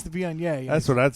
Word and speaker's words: Viognier: I was like, their Wagner is fantastic, knowing damn well it's the Viognier. Oh, you were messing around. Yeah. I know damn well it's the Viognier.